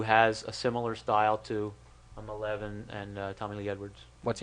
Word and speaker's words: Maleev: asked him, I said, how do you pronounce your name? He said Malev, so I'll take it right from the source that's how you pronounce his name.